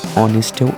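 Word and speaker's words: honest: কারণ হচ্ছে আওয়ার আর অনেস্টের ক্ষেত্রে আমি এইচটা সাইলেন্ট রাখি, তাই তো? মানে আমি ও দিয়ে উচ্চারণটা শুরু করছি, আওয়ার, অনেস্ট।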